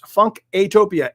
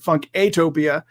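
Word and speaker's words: Funkatopia: fun to Tokyo and sometimes I pronounce it funky a topia because a lot of people don't know that there's an A in there and it's you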